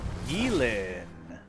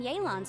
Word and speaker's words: Yelan: I thought we'd established that my legal opinion doesn't count for anything when Yelan's around. Yelan. Okay, Yelan. It's Yelan. Even though it's spelled Yelan, it's Yelan. Okay?